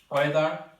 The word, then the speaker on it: whether: এরপর হচ্ছে ওয়েদার। ওয়েদার এখানে এইচ আছে কিন্তু উচ্চারণ নাই।